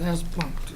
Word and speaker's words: Asplundh: This is the one I can never pronounce the name. It's Asplundh.